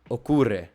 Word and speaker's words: ocurre: Ocurre. Great. Ocurre. Remember the U is u.